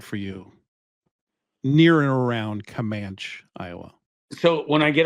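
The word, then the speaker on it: Camanche: no I'm in Comm comman okay it's spelled commane but they say comman okay you want to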